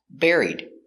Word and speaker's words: buried: good and the verb bury in the past buried he was buried in the cemetery pronunciation buried he was buried in a cemetery